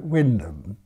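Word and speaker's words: Wymondham: up in a market town named Wyndham which is what WY name - and ehm but the path spell that's how that spell it but the way they say they talk about Windham and I had a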